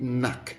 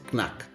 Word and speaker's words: knack: Take note of that this option C, the first letter K is silent. So, we say knack, not knack.